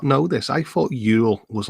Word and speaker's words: Yule: Yeah, how you pronounce this? Yule.